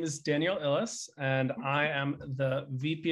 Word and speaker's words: Illes: also in social approaches daniel uh your surname pronunciation give us that also sure hi everyone my name is daniel ellis and i am the vp of people at